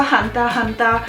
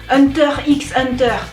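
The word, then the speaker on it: Hunter × Hunter: que vous vous dites c'est quoi hanta hanta en français vous devez prononcer Hunter x Hunter bon voilà du coup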